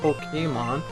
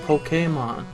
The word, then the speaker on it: Pokémon: Do you not know there's an accent over it? I don't know what those mean. They're to change the way the letter's pronounced. That's the whole point of them. That's why it's not Pokemon, it's Pokemon.